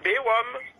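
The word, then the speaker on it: Bay Rhum: Ça s'écrit B-A-Y, plus loin R-H-U-M. Ah, bah voilà. Ben c'est ça, Bérom.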